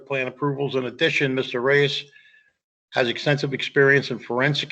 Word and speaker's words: Reyes: Is that how you say it, Reyes? Yes.